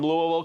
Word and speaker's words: Louisville: Brent from Louisville, Kentucky. See how I said Louisville? That's how you say it.